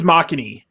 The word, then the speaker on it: Makhani: your name is it makini or mach and i how do you say that it's makhani makhani okay just say maki for short if you want to